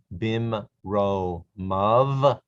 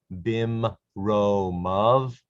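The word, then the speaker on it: בִּמְרוֹמָיו: The yud is silent in these forms right here.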